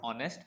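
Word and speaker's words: honest: I will be रहूंगा क्या रहूंगा ऑनेस्ट I will be ऑनेस्ट यहां एक् साइलेंट होता है मैं बुद्धिमान बनूंगा आई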